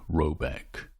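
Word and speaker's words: Råbäck: or haard in question is to be called rabach pronounced something like robc though that is not its name it is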